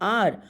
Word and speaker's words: hour: HOUR यूज़ करेंगे इसमें और इसकी प्रोनाउंसिएशन भी होती है आर।